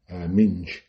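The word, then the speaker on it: Minge: similar to the uh the German player Ming who's m i n g e everyone pronounces it ming but who the commentators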